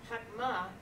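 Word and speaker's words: חכמה: So, but this word, Chokmah, the accent's still on the end.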